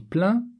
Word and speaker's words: plein: À l'oral, quand je dis plein, on n'entend pas le N.